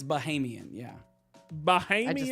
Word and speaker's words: Bahamian: So it wouldn't be Bohemian. It's not Bohemian. It's Bahamian.